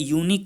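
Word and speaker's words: unique: लेकिन यहाँ पे कुछ एक्सेप्शनल केसेस होते हैं, तो यूनिक चूँकि इसका प्रोनाउंसिएशन जो है उच्चारण या है यूनिक से है या, तो इस वजह से यहाँ पे ए आएगा।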